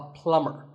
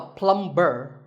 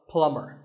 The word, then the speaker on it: plumber: you call him a plumber not a plumb burn the B is silent so plumber in fact in many